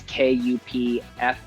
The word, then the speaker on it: Kupfersmith: My last name is spelled weird, but then my last name is Kupfersmith.